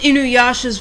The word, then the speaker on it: Inuyasha: I don't know why so many people have problems with Inuyasha's voice.